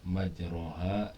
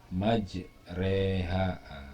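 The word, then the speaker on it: مجريها: Tapi karena ini adalah bacaan khusus, maka yang tadinya dibaca majroha diimalahkan menjadi majreha. Majreha miring, ya, dibaca E, ya.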